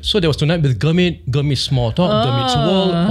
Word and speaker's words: Gurmit: Is it Gurmit or Gurmit? The Indian proper way to say it is Gurmit.